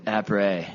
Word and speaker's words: après: You don't pronounce the S, do you? Après.